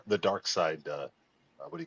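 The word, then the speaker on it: Darkseid: But if you watch the Justice League animated series, how do they say his name? Glenn animated series. How do they say his name? They say dark side.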